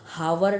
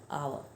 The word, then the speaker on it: hour: हम हावर नहीं बोलते हैं, हम क्या बोलते हैं? आर बोलते हैं, एंड आवर, राइट.